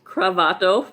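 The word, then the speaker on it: kravato: and pointed out that cravato rhymes with sabato and not the esperanto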